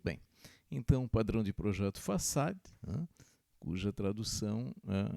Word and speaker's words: Facade: Facade. De novo. Facade. Facade. Cuja tradução é? Fachada. Muito bem. Então, padrão de projeto Facade, cuja tradução é fachada.